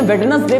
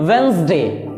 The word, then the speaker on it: Wednesday: अब आपको लगता होगा कहो वेडनेसडे पढ़ो, में कहा है, लेकिन वेडनेसडे पढ़ना इसका करेक्ट प्रोनाउंसिएशन ये नहीं है, बल्कि इसका करेक्ट प्रोनाउंसिएशन क्या है? वेंसडे। वेंसडे, WENZDAY, इसकी करेक्ट प्रोनाउंसिएशन क्या है?